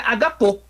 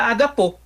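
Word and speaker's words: ἀγαπῶ: Mas como é que a gente pronuncia o agapau com a contração? A gente pronuncia agapô. A gente contrai, né? Tira aquele alfa dali e ele vira agapô.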